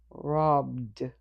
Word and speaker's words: robbed: In its past form, the final ed will be du. So, phonetically, the word looks like this. Robbed.